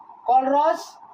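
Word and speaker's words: Kohlrausch: KOH LRA USH, URA हो गया ना, USCH, कॉलरॉस लॉ।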